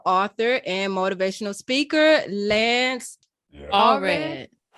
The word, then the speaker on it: Allred: and motivational speaker, Lance Allred. Yeah, you said it right. No, sometimes people, it sounds like it looks, you know.